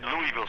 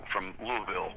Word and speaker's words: Louisville: Except for one thing, I always said Louisville Slugger, and my good friend Michelle from Louisville tells me it's Louisville Slugger. Okay. So I have to learn how to say it right.